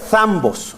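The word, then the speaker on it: θάμβος: En griego se pronuncia, en el original, el griego, donde está escrito el Nuevo Testamento, se pronuncia thambos, así se pronuncia la palabra.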